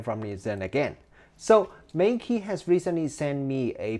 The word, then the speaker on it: Meike: they confirmed to me the correct way to pronounce the brand name is Meike.